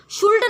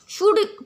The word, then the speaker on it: should: ये जो शुड है इसे इसमें जो है एल साइलेंट होता है। इसलिए हम इसे शुड ना पढ़ के शुड पढ़ते हैं।